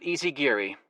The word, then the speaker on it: Isaguirre: The card read, Philip Isaguirre. Philip Easy Geary, he said. I looked at him. I said, Easy Geary, so that's how you pronounce it.